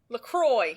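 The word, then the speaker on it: LaCroix: It rhymes with lashes. Lacroy.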